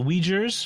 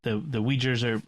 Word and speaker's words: Uyghur: I do not pronounce that properly because once I sort of visualized the word, I could see it, but it does. I do not do the UI as we.